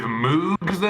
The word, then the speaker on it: Moog: But nope, it was three dudes from Toronto with Moogs in a dream or I guess. That was one. It's pronounced Moog and two.